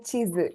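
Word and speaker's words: 地図: Sekai chizu.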